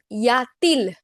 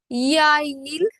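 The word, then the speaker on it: y a-t-il: It would have been yail, y, a, and il.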